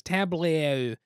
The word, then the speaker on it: tableau: next on the list is going to be tableau building tableau is not a word i was ever used to hearing until board games and i didn't realize how to pronounce it for a while it was tableau but tableau essentially you're putting things in front